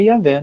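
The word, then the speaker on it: Yahweh: Esse Iá é Yavé, né?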